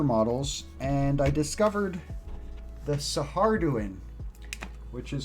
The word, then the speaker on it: Saharduin: old rogue trader models and i discovered the saharduin which is spelled like s-a-h-a-r-d-u-i-n and the saharduin are also